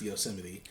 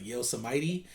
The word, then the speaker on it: Yosemite: around here obviously so everyone knows how it's pronounced Yosemite but I walk around telling people's like Yosa mighty but or you're some